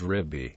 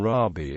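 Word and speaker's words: רבי: as to Jesus pronunciation safic and yemenite Jews pronounce this word riby the modern Israeli pronunciation rabi is derived from an 18th century innovation in ashkan Artic prayer books although this vocalization is also found in in some ancient sources other variants are revi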